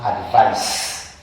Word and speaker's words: advice: First and foremost, I would like to say that advise with a C is pronounced advice, while advise with a Z, with the S rather, is pronounced advise.